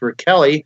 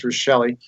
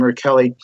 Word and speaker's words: Rachele: It's actually pronounced Rachele, but everybody says Rachele, but it's an Italian name, Rachele.